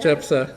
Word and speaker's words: Jephthah: Jephthah, yeah.